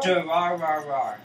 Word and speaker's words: Durarara: How do you pronounce Durarara? Durarara.